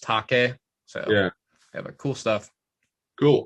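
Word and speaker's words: Taake: that's that t it's t-a-a-k-e means fog it's like fog and uh norwegian i believe yeah but pronounced take-a so yeah cool stuff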